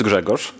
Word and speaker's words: Grzegorz: overview peach kind of discussion my name is Gregor if you think about my name in if you drop disease it becomes pronounceable i come from poland i work remotely